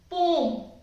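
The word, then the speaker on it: poem: लेकिन क्या आप जानते हो कि ये जो पोयम जिसे हम बोलते आ रहे हैं, ये एक्चुअली में पोयम बोला ही नहीं जाता, इसको बोला जाता है पोम।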